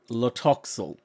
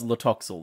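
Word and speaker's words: Tlotoxl: them a heads up they tended to gravitate towards L toxal though with like the first te being Sil so I just named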